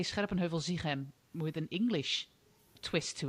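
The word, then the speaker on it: Scherpenheuvel-Zichem: So, and I'm not going to do that because, you know, I am Dutch and it's called Scherpenheuvel-Ziegem and I can't change it.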